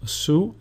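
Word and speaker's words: Σίγμα: Sigma, which is pronounced su, and the sample word is chocolata, which means chocolate.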